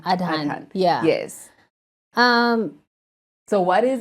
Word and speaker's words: Adhan: like that is because of the what's the pronunciation? Adhan.